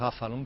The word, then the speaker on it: Avalon: expresión la expresión exacta la pronunciación exacta sería algo como la v en f e la que utilizan Allí se parece más a f que a V el Avalon nuestro hay más afalon que y viene de un